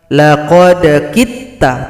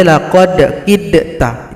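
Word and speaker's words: لَقَدْ كِدْتَ: Laqad kitta, tidak boleh laqad kidta, itu salah. Dal tidak dibaca karena telah gabung pada ta.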